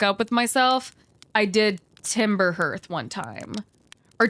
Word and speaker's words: Timber Hearth: with myself, I did Timber Hearth one time. Or Timber Hearth, is people also get upset about, okay? I'm gonna call it Hearth, because I think it rhymes better.